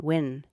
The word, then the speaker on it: Nguyen: and it was Nguyen, Win. Well, yeah, that would be. It's actually it's the way that it's pronounced. It's sort of like wing.